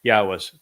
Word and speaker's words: Yahweh: So there can be no legitimate argument, no reasoned argument based upon Yahweh's Torah instructions regarding the Haya existence of his name, his Shem, that it is pronounced Yahweh.